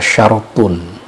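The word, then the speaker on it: شَرْطٌ: Syurut itu bentuk jamak dari kata syartun. Syartun, syurut. Tapi kalau syaratun, asyrat. Syartun kalau ra-nya disukunkan, syartun, bentuk jamaknya syurut, artinya syarat.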